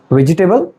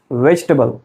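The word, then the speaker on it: vegetable: हाउ डू you pronounce this word? वेजिटेबल वेजिटेबल there is नो टेबल in this word the correct pronunciation is वेजिटेबल से after me वेजिटेबल वेजिटेबल वेजिटेबल let's move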